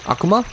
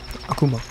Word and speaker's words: Akuma: Akuma. Akuma. Oh, Akuma. Mm-hmm. You were saying it very weird. I was. Akuma. I was very concerned. Well, that's like phonetically how you would say it in Japanese.